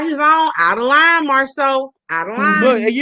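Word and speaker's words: Marsau: Marsu's name is not pronounced Marsu. It's Marceau.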